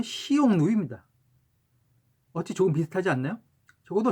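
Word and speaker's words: 匈奴: 그리고 흉노의 중국식 원어 발음은 시용누입니다.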